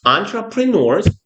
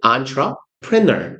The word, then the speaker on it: entrepreneur: 프랑스어 단어를 그대로 쓰기 때문이에요. 그래서 뭐지? entrepreneur이라고 발음해요. prenour 내지는 preneur이라고. entrepreneur 혹은 entrepreneur 애초에 영어 단어가 아니다 보니까 사람마다 발음이 미묘하게 조금씩 달라요. 근데 entrepreneur 정도가 제일 무난한 발음이에요.